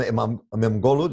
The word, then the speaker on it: İmamoğlu: I mean, the mayor of Istanbul, Ekrem İmamoğlu, did I say his name right? İmamoğlu, yes.